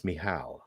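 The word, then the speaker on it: Michel: at German names but it's like Annelise mihal yeah you know but I mean uh but it's spelled m-i-c-a-g-l so I mean you're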